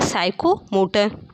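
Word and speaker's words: psychomotor: से साइकोमोटर physical साइकोमोटर इसको हम पी को साइलेंट पढ़ते हैं इसको हम लोग क्या पढ़ते हैं साइकोमोटर इसलिए आपका राइट आंसर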